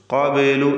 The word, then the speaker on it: قبل: മിൻ ഖബ്ലു, ഖബ്ലു എന്നതിലെ ബാഇൻ്റെ സുക്കൂൻ ഖൽഖല സുഗ്റ നൽകി ശബ്ദം ഹറക്കത്ത് പോലെ ചലിപ്പിക്കുക.